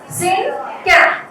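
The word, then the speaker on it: cinquain: It is pronounced as syncan.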